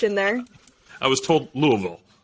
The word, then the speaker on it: Louisville: I was told Louisville. Louisville? Am I saying it right? Louisville? Like you got a little mud in the mouth.